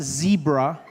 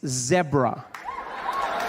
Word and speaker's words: zebra: It's not zebra. Okay. It's zebra. Yeah. Just like it's not zebra, it's zebra.